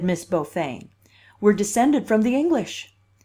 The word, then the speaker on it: Beaufain: Beaufain, pronounced in Kings Port Beaufain, as she was then,